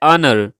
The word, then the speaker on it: honor: ऑनर, इज्जत को English में ऑनर कहा जाता है, ऑनर, ऑनर, HONOR, ऑनर। इसमें H जो है ये साइलेंट है, तो इसकी प्रोनाउंसिएशन कुछ यूं होगी, that is ऑनर, ऑनर। H को प्रोनाउंस नहीं करना यहाँ पर।